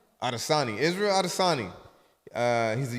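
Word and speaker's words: Adesanya: Adosani.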